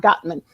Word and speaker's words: Gottman: the right got that mess that's how you pronounce it John Gottman and the Gottman Institute they've identified some of